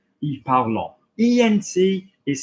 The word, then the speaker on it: parlant: And the amount of people that know that and they start reading with me and they say, il parlant. ENT is silent.